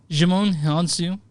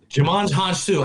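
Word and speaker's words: Djimon Hounsou: Okay, so Jimon Hansu is in this movie. Jimon Hansu. I thought that's the way you pronounced it.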